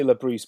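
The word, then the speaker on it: Le Bris: Well, I say Labrise, but I've heard it pronounced as Labris, so either as far as I'm concerned.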